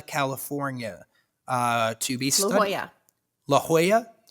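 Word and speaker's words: La Jolla: uh to be laa La Hoya La Hoya why don't they why don't they spell it like that I only know that because my dad lived there oh but why don't they spell it like that why is it j o l l a i guess it's probably Southern California so it's probably heavily influenced by espanol which makes a lot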